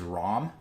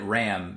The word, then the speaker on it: Ram: one is Ren but the pink one is ROM yes I always said it Ram because that's how it's spelled and when I watched it in Japanese